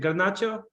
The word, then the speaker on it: Garnacho: He wants, you know, how do you pronounce his name? Garnacho.